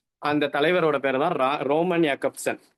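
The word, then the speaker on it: Jakobson: Roman யாக்கப்சன், ஜாக்கப்சன் வரும், யாக்கப்சன் தான் pronounce பண்ணணும்.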